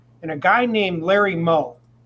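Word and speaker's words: Meaux: And a guy named Larry Moe, it's spelled M-E-A-U-X, but it's pronounced Moe.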